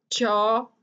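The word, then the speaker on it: chalk: चौल्क नहीं कहना, चौक, चौक जिससे आप बोर्ड पे लिखते भी हैं, चौक, चौक.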